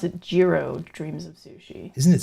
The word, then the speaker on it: Jiro: What was the name of that documentary, Hero Dreams of Sushi? I believe you pronounce it Jiro Dreams of Sushi. Isn't it spelled Jiro and you pronounce it Hero? No, I believe it's pronounced Jiro.